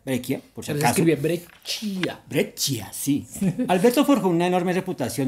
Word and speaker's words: Breccia: dibujante ilustrador Alberto Grecia se pronuncia brequia sí Alberto una enorme